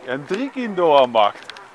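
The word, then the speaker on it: Hendrik-Ido-Ambacht: Hendrikie Lambacht. Hendrikie de Lambacht. Je zegt het verkeerd, de klemtoon is verkeerd. De klemtoon is Hendrikie de Lambacht.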